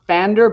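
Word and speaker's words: Pfander: famous christian missionary called paffander and i i think it's pronounced fander but it's spelled with a p so it's spelled p-f-a-n-d-r and um he had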